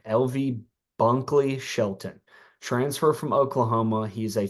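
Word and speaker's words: Bunkley-Shelton: because I don't know okay he is LV Buckley Shelton sorry I said his last name wrong LV Bunkley Shelton transfer from Oklahoma he's a fifth year uh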